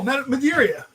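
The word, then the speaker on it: Madureira: Joe, pronounce that name for me again. Oh, Madeira.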